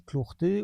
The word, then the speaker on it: clortés: Les clortés, on prononce ainsi à lich, les clartés, les claireux, si vous voulez, les numir.